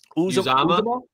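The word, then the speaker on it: Uzomah: How do you say pronounce his last name? Uzama.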